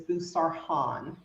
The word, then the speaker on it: Boussarhane: so I always joke the correct pronunciation of my last name is busar Han um because it comes